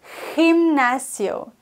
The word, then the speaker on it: gimnasio: G vor I und G vor E. Wenn es aber vor A, O und U steht, dann wird es wie ein normales deutsches G ausgesprochen. El gato, die Katze. Vor E und I, aber als CH. Gimnasio. Okay, es muss im Hals kratzen.